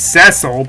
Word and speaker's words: Cecil: It's pronounced differently. It's Ceil, but it's spelled Cecil.